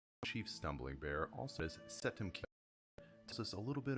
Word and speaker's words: Seldem: Chief Stumbling Bear, in the Kiowa language, it's Seldem is how you pronounce Stumbling Bear.